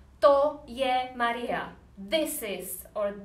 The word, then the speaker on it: to: you use this verb this pronoun pronounced toe like in English that or this this is